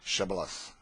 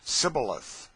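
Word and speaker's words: Shibboleth: let none pass who could not say shth the ephraimites being of a different tribe could not not framed to pronounce the word right but called it cilith which proved them enemies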